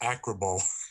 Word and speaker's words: ACRBO: It's not really pronounceable. A lot of people try. It's just Acrobo.